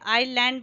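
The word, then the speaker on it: island: आयरलैंड आयरलैंड है कि ऐसा प्लांट होता है आयरलैंड बोलते हैं साइलेंट होता है आयरलैंड है में व्यस्त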